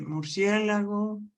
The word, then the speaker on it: murciélago: Y llevan tilde en la antepenúltima sílaba. Fíjense, murciélago, muérdago, miércoles.